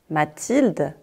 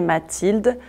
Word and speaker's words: Mathilde: Mathilde, ça s'écrit M-A-T-H-I-L-D-E.